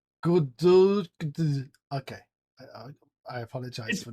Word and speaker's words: Godot: Well, they say there's a Godot. Hang on, Dante said it's pronounced Godot.